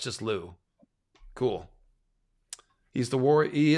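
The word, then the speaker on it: Lugh: anyways lug is pronounced Lou in Irish the H following a consonant makes the consonant silent l l no it's just Lou cool he's the warrior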